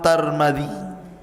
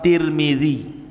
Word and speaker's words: Tirmidzi: kota sebuah daerah dan ada yang kemudian membacanya tarmid ada turmud ada tirmid jadi ada sebagian mengatakan Imam tarmadizi ada yang mengatakan Imam turmudzi ada yang mengatakan Imam Tirmidzi walaupun yang masyhur adalah Imam Tirmidzi ya dan itu yang